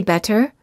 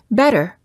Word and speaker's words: better: minutes from Santa Monica when T is between two vowels the T sounds like a fast D sound when it's between two vowels when a t is between two vowels it's generally pronounced like a fast D sound we don't say better we say better it also sounds the